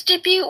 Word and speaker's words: debut: Did you really mispronounce debut as debut? I'm hungry. Okay, debute. Okay, fine. Um, I mean, first I said debate, then I said debut. It's debut, woman. Silent.